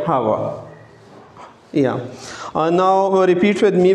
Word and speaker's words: Howard: come at the end, we change the R into ha sound. That is the rule regulation of English. So it is better to pronounce this word Elena. Elena Howard. Howard is not right. Hava.